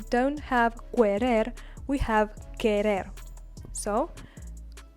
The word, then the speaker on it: querer: I will repeat it, the U without the two dots on top, and between a Q or a G, and an E or an I is not pronounced.